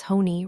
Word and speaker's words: Honey: Such a sweet name for someone so you not pronounced like honey. It's hony. rhymes with baloney.